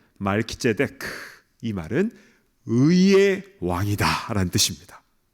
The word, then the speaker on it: 멜기세덱: 앞에 멜기는 말키라고 발음을 하는데요. 그 뜻은 왕이라는 뜻입니다. 그리고 뒤에 세덱은요. 제데크 이거는 의롭다. 의라는 뜻이에요. 그래서 멜기세덱 말키데크이 말은 의의 왕이다라는 뜻입니다.